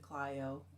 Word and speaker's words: Clio: And yes, in Michigan we pronounce it Clio.